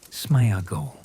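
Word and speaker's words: Sméagol: His friend and fishing companion is named Smeaggel, which is also written with an accent mark over the letter E and pronounced roughly as Smeagle, following a similar phonetic pattern and structure to Deagal's name.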